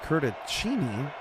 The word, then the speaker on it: Curtisini: Curtisini is pronounced Curticini, according to Curtis.